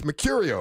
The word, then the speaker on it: Mecurio: said how do I say it properly it's Mercurio right there you go there you go